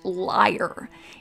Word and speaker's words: Layer: lake podcast is that henry layer's last name was actually pronounced liar in the german russian dialect as silly as it